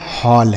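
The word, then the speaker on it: hall: जैसे पढ़ के देखते हैं, एच से पढ़ेंगे ह, ए का उच्चारण अ, तो हो गया ह और डबल एल से ल, यह लिखा गया हॉल।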